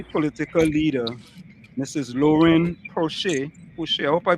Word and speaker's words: Pouchet: Pouchet, I hope I pronounced that correctly.